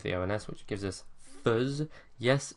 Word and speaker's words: fais: Then from that we remove the ONS, which gives us fuzz. Yes, it looks like fez, but it's pronounced fuzz.